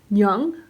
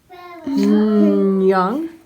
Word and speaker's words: 녕: nope it's not silent so this syllable is pronounced young young young can you hear it when you say annyong